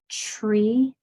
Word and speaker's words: tree: Okay, so when you enunciate this word, when you pronounce it, make sure you hear the T and the R and don't let it get muddled into a chur.